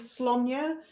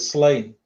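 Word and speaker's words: Sláine: Thinking about mine, I don't know if you've ever heard of a story called Slonya, but it was Slonya's sidekick Uko. You pronounce it properly. Yeah, I still call it Slain.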